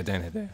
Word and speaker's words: Hedaya: Is that how you pronounce his name? Yeah, Dan Hedaya.